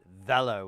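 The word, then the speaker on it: Weller: of thing, you know, like because I think Veler is is uh their parent company is German. At least in their ads, they pronounce it Veler with a V on it.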